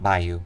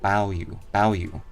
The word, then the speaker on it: Baoyu: It's not Bayu. Baoyu. Okay, gotta pronounce that correctly.